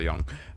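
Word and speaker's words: Jung: look up at Carl Young um I'm probably saying his name wrong but it's spelled with a J but it sounds like young anyhow so he says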